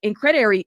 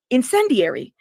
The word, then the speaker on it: incendiary: this is just uh uh incredary, is it incred? I'm going to have to look that word up so I know how to say it correctly. Hold up. Incredary. Incred. Incredary. Hold up y'all. So I understand. I don't want to say the wrong word. incendiary.